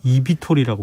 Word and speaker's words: eVTOL: eVTOL이라고 읽거든요. 이비톨이라고 네, 그래요?